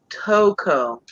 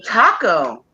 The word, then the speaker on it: Toko: And the name is pronounced Toko. Toko. That's what I was heard before. You look like Taco. Toko.